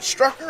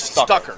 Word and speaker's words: Stucker: Is it Strucker or Stucker? I think it's Stucker. Stucker. So I'm saying it wrong. Okay, It's Stucker.